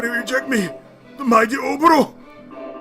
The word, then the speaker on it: Oboro: He defeated Oboro. I am saying it right. Oboro.